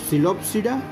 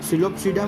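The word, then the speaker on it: Psilopsida: अच्छा, इस दोनों में देखिए टेरिडोफाइटा में टेरिडोप्सिडा में हम लोग P साइलेंट रखे हैं। सिलोप्सिडा में भी पढ़ने के टाइम में P हम लोग इस्तेमाल नहीं करते हैं, ऐसा तो नहीं पढ़ते हैं सिलोप्सिडा ही पढ़ते हैं, इसलिए साइलेंट रहता है।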